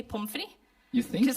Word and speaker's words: pommes frites: Pommes frites. I think we mispronounce it. Like we take the French word, Okay. but then we take away the T at the end because you say pommes frites, right?